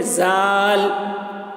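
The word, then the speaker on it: ظا: اس کا تلفظ ہے زا. زا یہ صحیح تلفظ ہے.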